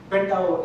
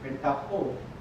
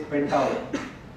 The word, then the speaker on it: Pentaho: Pentao is also, H is silent, by the way. You're not supposed to say Pentaho. It is Pentao platform.